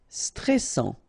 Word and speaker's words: stressant: Stressant, okay, final T not pronounced, and then A-N, stressant.